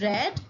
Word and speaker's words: read: b2 and b3 form uh spells the same but it is read as here read b2 is red and b3 is also red it is a difference